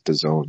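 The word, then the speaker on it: DAZN: of your company or a media company is Daz and your expect people to pronounce it as the zone like you have to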